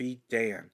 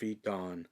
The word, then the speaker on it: Ean: by Philip chase the way of Ean which back then I was mispronouncing as the way of eon silly me it's wonderful fantasy feels